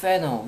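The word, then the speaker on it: fanner: 그다음 패너 미국 발음은 패너 우리나라 발음은 파너 FANN이야.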